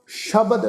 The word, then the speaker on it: शब्द: शब्द ससे पैर बिंदी लगा के पाठ उच्चारण करना है जी।